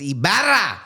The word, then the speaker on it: Ybarra: And then people were like, no, it's pronounced Ybarra.